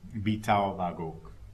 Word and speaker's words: Bitaobagok: And, Lake Champlain, which in Abenaki language is pronounced Bitaobagok.